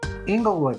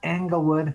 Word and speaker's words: Englewood: what do you say inglewood is long e it's not englewood it's not anglewood it's inglewood the father